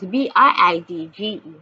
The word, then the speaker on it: bridge: The G will be the G will be the soft sound of G, the soft sound of G, and the E at the end of the word is silent.